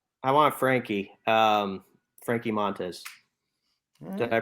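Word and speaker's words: Montas: forgot about him i want frankie um frankie montes did i pronounce it right bronze yeah that's right i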